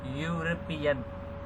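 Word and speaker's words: European: उसका साउंड आ रहा है वो ये आ रहा है, देखो यहाँ पे यूरोपियन, ठीक है। तो वो जिसका जो हम प्रोनाउंस करते हैं वो तो वाई से स्टार्ट हो रहा है, यूरोपियन यूरोपियन, ठीक है, इस तरह से।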